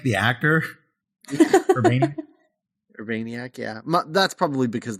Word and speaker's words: Urbaniak: I kept thinking of John Urbank, the actor. Urbaniak.